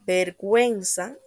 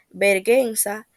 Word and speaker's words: vergüenza: parasitar textos la diéresis la diéresis son dos puntitos que se colocan encima de la u para que esta vocal sea pronunciada como por ejemplo en las palabras vergüenza y en la palabra pingüino se escucha el sonido de la u sin embargo si no se coloca sonaría vergüenza pingüino por último los tipos